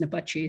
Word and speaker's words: Napatsi: And for me, particularly with a name that's difficult to pronounce, it's spelled unusually and actually pronounced Napatsi.